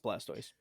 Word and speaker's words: Blastoise: Blastoise is that how you say it yes Blastoise M it's got Blastoise as its mascot and